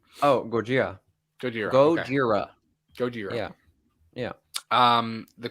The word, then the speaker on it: Gojira: act the the original name oh gorgia goodyear go jira gojira yeah yeah um the classic monster movie